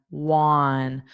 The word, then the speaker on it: one: But, it's not one because this is pronounced on on. So, you have to take this the sound of on but just add a w a w in front of it.